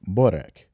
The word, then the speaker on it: byrek: Anyway, we were later told the pronunciation is closer to byrek.